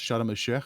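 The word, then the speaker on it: Sharm: like a place called It's pronounced sham which is basically like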